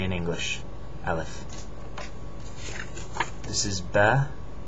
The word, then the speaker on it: ب: This is Ba. It's like a half circle with a dot on the bottom, Ba. It's just like the B in English, Ba.